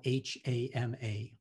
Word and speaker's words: Hama: a japanese name her name was hama and that's spelled h-a-m-a hama i ease a pen into the curl